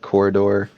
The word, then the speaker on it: Quoridor: Like Corridor, it's spelled like Quoridor instead of how it should be spelled.